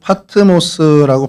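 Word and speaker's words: Πάτμος: 어 그리스어루 파트모스라고 발음을 하고요.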